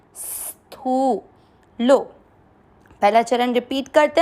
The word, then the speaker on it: स्थूलो: नहीं आ रहा है, देखो आधा से का उच्चारण इस तरह से करना है, और थू को खींचना है, स्थू लो।